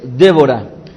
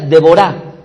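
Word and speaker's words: דבורה: nombre de esta mujer es Débora, o más bien dicho, la pronunciación correcta en el hebreo sería Deborah, cuyo significado al español sería abeja.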